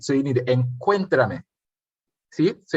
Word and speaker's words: encuéntrame: That's saying to meet me, encuéntrame, accent on the E.